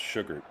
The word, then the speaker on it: Shugart: Been saying on the broadcast is pronounced Sugart.